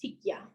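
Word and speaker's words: ticlla: Um, so tikia is actually spelled with a t i c double l a and that's tikka. Um, and this piece is number 98.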